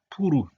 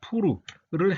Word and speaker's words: 푸르: 날짜는 페르시아어로 제비뽑기를 뜻하는 부루, 그러니까 정확한 발음은 푸르입니다. 푸르를 행함, 그러니까 제비를 뽑았어요.